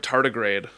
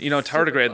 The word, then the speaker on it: tardigrade: I'm looking at how am I pronouncing this word? Oh, are you looking at the word tardigrade? Thank you. Okay. That's actually pretty much what I was going to say. Yeah, tardigrade, the little microscopic organism that lives in water,